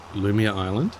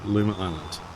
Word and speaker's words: Luma Island: Is it Lumia Island? Luma Island? Is it Luma? I mispronounced. Luma Island.